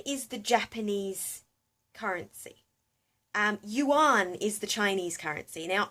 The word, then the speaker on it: Yuan: that's when I found out it was actually pronounced Yuan and it was actually Yuan as opposed to